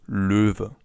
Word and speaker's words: Löwe: As you can see, this O letter with the 2 dots on top is pronounced Ö. Ö. You can find more about that in our video on the Umlaute, Ä, Ö and Ü. So for now, it's just important that the animal is pronounced Löwe.